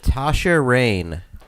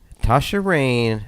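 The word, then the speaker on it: Tasha Reign: Let's go with Tasha Rain. I can tell you it's spelled Reign, if that helps.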